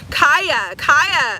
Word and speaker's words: Kia: do you have for Kia? Moving on from the past, moving into something new. Kia, not the car. Okay, my name is pronounced Kia, not like the car. Okay, Kaya.